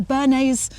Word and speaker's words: Bernese: Which is a bit of a problem because we're house sitting and we're looking after a Bernese Bernese, I can't remember how you pronounce it.